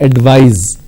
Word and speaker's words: advise: in the verb form, instead of C you need to use S, and it's pronounced as advise.